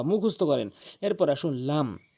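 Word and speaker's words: لام: এরপরে আসুন লাম লাম লাম লাম খুবই সহজ লাম বললেই সঠিক উচ্চারণ লাম জিহ্বার আগা জিহ্বার আগা জিহ্বার আগার কিনারা উপরে মারের সঙ্গে লাম লাম এরপরে আসুন মিম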